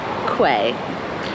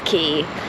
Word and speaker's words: quay: I live in this area called Lark and I've been saying quay. It's key.